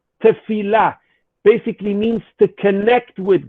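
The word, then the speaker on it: תפילה: the word for prayer in hebrew which is pronounced tefillah basically means to connect with god to connect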